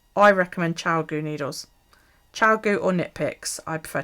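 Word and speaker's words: ChiaoGoo: do i recommend i recommend child go needles chow goo or nit picks i prefer chow goo but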